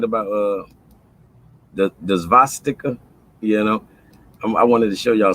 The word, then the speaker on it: svastika: But the swastika, the actual name for it is the svastika with a V. Svastika. That's the actual way that Germans pronounce it, and the W was